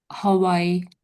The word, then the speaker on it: Hawaii: Hawaii. Yeah, you've got it, I think, pretty much. Yeah, that's it. Yeah. It's a definite H sound there.